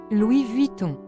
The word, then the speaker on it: Louis Vuitton: Louis Vuitton ini yang apabila diucapkan dalam bahasa Perancis menjadi Luis vuing atau yang disingkat dengan